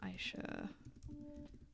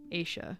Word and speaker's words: Aisha: Aisha Neopets, which if you grew up with Neopets, you probably pronounced the Neopets incorrectly. I know I did cuz I used to say Aisha instead of Aisha. That's apparently wrong.